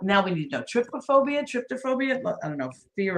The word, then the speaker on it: trypophobia: Well, I think I'm saying tryptophobia.